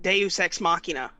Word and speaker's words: deus ex machina: what was that movie deus machina well the proper pronunciation is like deus ex machina but the movie was